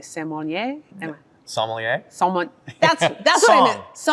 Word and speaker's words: sommelier: So the people who are judging are they, I never know if I say it correctly, sommelier?